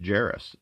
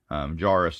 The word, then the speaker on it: Jarrus: come to figure out his name is canon Jerris or kanan jarrus I mean either way he's basically my namesake other than the spelling mines jay-ar OS is J a RR us but it's pronounced Jerris from what I've looked up I've heard other people say it Joris too but that's how they